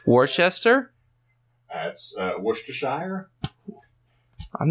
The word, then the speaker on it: Worcestershire: I know how to pronounce it, but whether or not I'm going to pronounce it correctly. Worcester? That's Worcestershire.